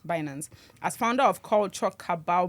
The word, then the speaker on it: Binance: KG Media, Trilla and Binance Binance that's right pronunciation Binance as founder of culture cabal media.